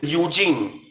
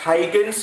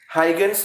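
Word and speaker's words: Huygens: wave theory now many people pronounce this as eugene you can pronounce the way you like but the correct pronunciation is heightens wave theory heigen's wave theory now according to hydrogen's wave theory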